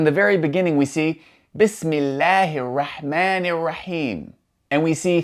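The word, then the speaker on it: بسم الله: going to connect to that word with no pronunciation of the hamza. So, for example, in the very beginning, we see Bismillahir Rahmanir Raheem, and we see three examples of an alif with that symbol written above.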